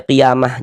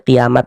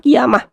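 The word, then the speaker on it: قيامة: Qiamah ini kalau kita berwakaf atau berhenti di sini kita baca qiyamah. Jangan baca kiamat ya. Jangan ini masih sangat sering sekali terjadi kesalahan bagi yang tidak paham tajwid. Dibacanya kiamat bukan, bukan kiamat tapi kiamah.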